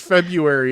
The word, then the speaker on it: February: Stop pronouncing the R so hard. That's the problem. Just February is fine.